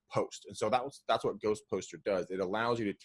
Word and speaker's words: GhostPostr: So Greg, you jumped right on to Ghost Poster, and that's spelled GHOSTPOSTR. There's no E in it, Ghost Poster.